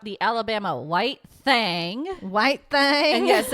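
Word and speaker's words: thang: to talk about the Alabama white thing white thing and yes it's pronounced that way and it's spelled that way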